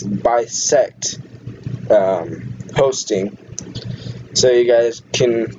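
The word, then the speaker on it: BisectHosting: The host I used is Beseet Hosting, I think that's how you say it. But if you guys can see the chat, I know I've kind of overviewed Bisect, okay. So it's Bisect Hosting.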